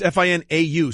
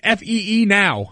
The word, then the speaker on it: Finau: Yeah, it's Finau, so there's a lot of what's going on there? As far as I'm concerned, it's Fee now. That's exactly right.